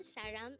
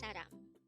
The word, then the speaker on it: 사람: Saram. Saram. This is the Korean term for person. Again, the term saram is the Korean term for person. Again, that's saram.